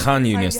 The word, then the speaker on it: Khan Yunis: People who are oh, it's Khan Yunis, that's how you pronounce it.